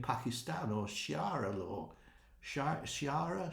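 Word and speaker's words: Sharia: or Shara law sh Shara Shar law Shar is how you say it Shay law in Iran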